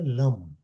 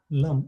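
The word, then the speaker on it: लं: और इसलिए इसका जो बीज मंत्र है वह है लम एल वन लम spelling is लम लम एल ए एम कह दीजिए या एल यू एम कह दीजिए बोलने में लम हिंदी में तो ल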